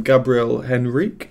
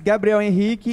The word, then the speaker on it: Gabriel Henrique: Where I'm from, we'd call him Gabriel Henrique, but I notice he says that differently, so I'm going to try and pronounce it correctly. My name is Gabriel Henrique.